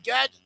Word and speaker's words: Gad: another form of the name Gad.